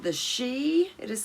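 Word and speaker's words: Sidhe: work with now there is something called the she it is spelled s-i-d-h-e this is a race of inner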